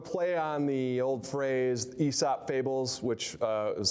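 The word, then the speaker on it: Aesop: education gap and um bring the truly good esop candidates out so that um so that they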